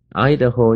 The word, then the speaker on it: Idaho: 内华达州的上面有一个州叫做 Idaho，Idaho 重音呢在前面的 I 的上面，Idaho 就是爱德荷州啊。